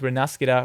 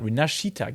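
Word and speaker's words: Rinascita: to uh spend time with renastica rinashitag yeah by the way I I have been corrected sorry about the wrong pronunciation rinashitag year that is really relevant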